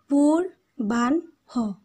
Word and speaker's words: পূর্বাহ্ন: এখানে তোমরা পূর্বাহ্ন খেয়াল করো, পুর বান হ, এখানে তিনটে আমরা সিলেবেল পাচ্ছি।